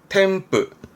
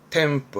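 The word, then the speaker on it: 添付: 템프. 아시죠? 응 때문에 발음 바뀝니다. 템프 합니다.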